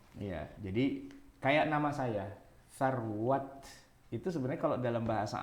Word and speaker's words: Sarwat: Iya, jadi kayak nama saya Sarwat itu sebenarnya kalau dalam bahasa Arab benerannya sarwah.